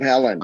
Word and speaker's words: Haaland: I'm wondering about Deb Haaland. Is that how you say it? Is at Interior? Deb Haaland, yes.